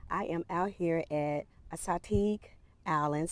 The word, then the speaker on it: Assateague: I am out here at Assateague Island. Some people pronounce it Assateague.